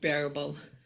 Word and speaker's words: Arbel: It's pronounced bearable, Bearable. bearable, Okay. like a bear and a bull.